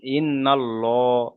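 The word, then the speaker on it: الله: আর আল্লাহ শব্দের পূর্বে আল্লাহ শব্দের লাম মুশাদ্দাদের পূর্বে যদি জের থাকে তাহলে আল্লাহ শব্দটাকে বারিক করে পড়তে হবে অর্থাৎ লা করে পড়তে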